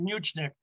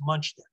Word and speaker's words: Muchnick: him sam so sam much you said much nick i'm sorry the general no no no no that's why we're here we we learned this the general pronunciation was munchkin okay it's just more more the way it looks so sam he